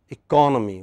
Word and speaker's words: economy: at the next word economy which part of the word is stressed four-syllable second syllable fertility taken second syllable from like right but